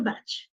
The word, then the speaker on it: Bach: lot of anti-german feeling he was previously pronounced as Bach and that sound is giving that anti-german feeling so they changed his name from Buck to batch in April his first